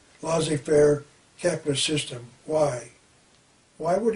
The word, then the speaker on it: laissez-faire: John Maynard Keynes also wants to end the lazy Fair laissez-faire it's pronounced laissez-faire capitalist system why why would he want to